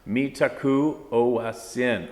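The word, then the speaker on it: Mitákuye Oyás'iŋ: Mitakwe Owesin, pronounced Mitaku Oyasin.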